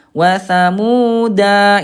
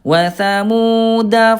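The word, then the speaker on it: وَثَمُودَا: Jadi, bukan tsamuda. Watsamuda itu salah. Wasamuda fama. Nah, itu yang tepat ya.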